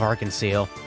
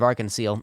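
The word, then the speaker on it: Arc-en-Ciel: witnessing The Rebirth of Arkansas the public performance was surely to be something to look forward to it's pronounced like the French word for rainbow I I I don't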